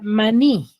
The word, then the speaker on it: maní: tengo la palabra maní Cuántas sílabas tiene dos dos tiene dos sílabas ahora dónde tiene la mayor fuerza de voz ni en la en la segunda sílaba en la sílaba ni Claro en la última sílaba y al ser en